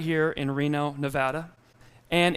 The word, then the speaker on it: Nevada: in Reno Nevada and it is Nevada not Nevada do we know that do we know that for some reason our state's the only one that has two pronunciations I don't know why nobody calls it Nebraska I've never heard Alaska right next to Canada so it's not Nevada does that make sense